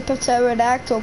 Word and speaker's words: pterodactyl: It's a pterodactyl because the P is silent.